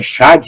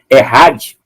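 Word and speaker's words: אחד: o termo que aparece o termo é é Chad né mas a pronúncia é errad né significa uma unidade composta ou seja uma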